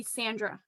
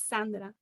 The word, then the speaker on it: Sandra: i introduce myself i i say sandra because i know that's how you pronounce it in you know like american canadian english but my name is not sandra my name is sandra it's different even though you spell it the same way it's different and i do it